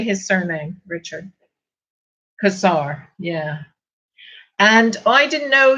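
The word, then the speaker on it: Cossar: Kazar, yeah.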